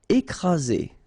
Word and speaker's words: écraser: Écraser. Okay, double vowel, only one S, Z, and then you've got the first accent aigu, écraser.